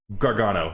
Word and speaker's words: Gargano: Gargano, say it right.